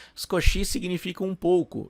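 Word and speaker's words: 少し: é scochi x né o i ele não é pronunciado com tanta ênfase scochi significa um pouco e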